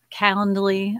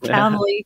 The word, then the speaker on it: Calendly: Calendly. I can never say that right. I think I said it right this time. Calendly.